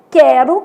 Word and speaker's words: quero: Então, a gente tem quero, que o U é nulo, sequência, que o U é semivogal, e averigue, que o U tem um som forte, né?